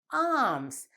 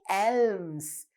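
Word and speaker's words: alms: at the last word a l m s arms we don't say elms we this letter l is a silent letter arms um i have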